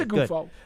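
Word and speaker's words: Oghoufo: Ovi Ogufo, I believe that's the yes, it is. pronunciation. I just checked on it. It is Ogufo.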